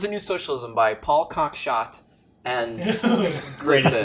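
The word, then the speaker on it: Cockshott: new socialism by paul cox shot and greatest name greatest name ever i i was hoping it wasn't pronounced that way but it turns out it is um no so it's towards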